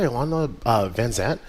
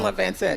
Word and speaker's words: Iyanla Vanzant: Perseverance Award presented by Ilana Van Zandt. Am I saying her name? I always say her name wrong. Iyanla Vanzant, yes.